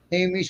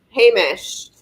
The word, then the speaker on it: Hamish: That's for Ladybug and Aquilla Hamish. How do you pronounce that? You gave it to him. Hamish.